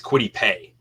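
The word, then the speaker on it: Kwity Paye: Chris in the comments it's quiddy pay okay I heard someone say p a few weeks ago I was like have I been saying it wrong for two or three years now okay I appreciate that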